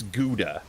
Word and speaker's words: Gouda: Because I don't know if that's the way we say it, because we like to say it like good, like Gouda. It's not bad. It's Gouda.